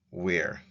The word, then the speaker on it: wr: It's WR and pronounced where.